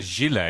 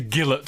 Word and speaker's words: gilet: Ordinary people Call it a gillet. say gillet. What should I say? Gilet. Gilet. It's on the second syllable there.